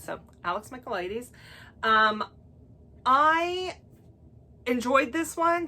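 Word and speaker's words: Michaelides: the silent patient and i had no idea how to say the last time and it's michael ladies so alex micheladies um i enjoyed this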